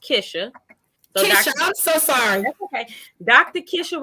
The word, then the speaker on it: Kisha: kisha so i'm my my name is actually pronounced kisha i'm so sorry dr